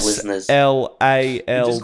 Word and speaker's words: Slalt: Just chuck an L in there, mate. Slalt.